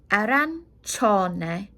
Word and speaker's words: arancione: Orange, arancione. Nearly sounds like ranch in the middle because CIO sounds like cho.